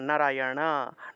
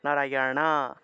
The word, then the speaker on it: নারায়ণ: দিয়েছি একইভাবে উচ্চারণের ক্ষেত্রেও জীব উল্টিয়ে ন উচ্চারণ করতে হয় মূর্ধন্য এর উচ্চারণ অর্থাৎ নারায়ণা নারায়ণা নারায়ণা কৃষ্ণা কৃষ্ণা নারায়ণা এভাবে